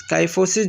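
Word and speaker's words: kyphosis: काइफोसिस जो है pronounced काइफोसिस the thoracic curve, मतलब जब सीने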